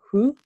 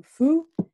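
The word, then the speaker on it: ふ: Okay, so this one is kind of special because honestly, you can pronounce it with an H and it will become who. Or you can even say it with an F and it will become foo.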